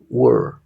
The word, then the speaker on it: were: fíjate el movimiento okay O puedes considerarlo como que se pronuncie solamente la W y una r también así were entonces comparemos la una